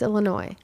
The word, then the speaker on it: Illinois: yeah Chicago Illinois Illinois the molasses is not pronounced then why is it there why isn't it yeah no okay fine it's Illinois thank you okay you win I do because